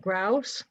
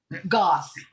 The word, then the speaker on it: Goss: it's Grouse, your last name, right? Goss. Goss. I put an R in there and there wasn't one.